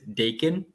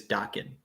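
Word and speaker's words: Daken: you say it like when I first read it I read it as Dakin but apparently people have said it is docking um and I love Dakin slash Dokken I'm gonna go with Docking because I think everybody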